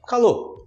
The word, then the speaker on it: calor: calor até com R mas a pronúncia você fala calor tá fazendo muito calor hoje